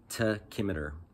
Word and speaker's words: tachymeter: school you know the the tachymeter is actually pronounced tachymeter to kimmeter not meter everyone i mean okay